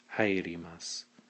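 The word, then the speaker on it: 入ります: step to the ri, and you'd pronounce it hairimasu.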